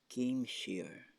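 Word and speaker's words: céim siar: step back the Irish word there meaning or pronounced as game share game share means meaning step back Pik game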